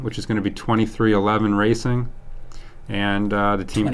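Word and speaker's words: 23XI: the team name which is going to be 2311 racing and uh the team car number no it's 23 11.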